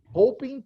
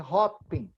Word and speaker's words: hoping: with him so we just set up again hoping to find okay okay I'm sorry I needed to correct you here's hoping hoping to find you pronounce a hot-pink yeah thank you Oh hot looping yeah here's